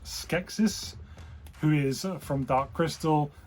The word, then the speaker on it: Skeksis: Now this is, I believe it's pronounced Skeksis, who is from Dark Crystal.